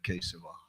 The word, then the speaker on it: Keshav: I think Keshav sounds better than Kesava in terms of syllables.